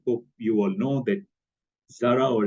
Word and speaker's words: Zara: you all know that Zara or as it's pronounced in Europe Zara The Zed is with a bit of an S um it's a Spanish